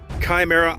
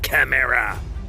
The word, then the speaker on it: Chimera: I don't fucking know how to pronounce it, to be honest. There's a death metal band that I fucking, used to gig with called Chimera. Okay, so that's how I'm, Chimera. That's how I'm gonna pronounce it.